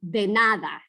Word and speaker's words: de nada: say de nada, because the D's aren't that hard in Spanish. They're like de nada. If you do them just like a little bit softer, then it sounds much more native.